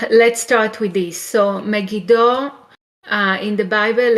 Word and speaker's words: Megiddo: in the hebrew class you can have a the letter used or annoyed and it will sound e so megido megito or maggie dawn with n in at the end okay so that's how